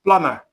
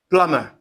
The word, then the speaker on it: plumber: plum So, when you add it this way, it becomes plumber. plumber Two syllables as well. The first syllable is stressed, is emphasized.